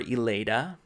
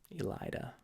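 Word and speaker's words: Elaida: easier cute Diller Elida I called her Aleida not a big one there Elida now some of the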